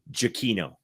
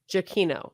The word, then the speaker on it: Giacchino: Giacchino. Giacchino.